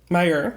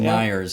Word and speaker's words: Meyer: Myers my Meyer Meyer Meyer is not the Myers so the team of